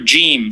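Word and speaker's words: جيم: Name of the letter, Jim.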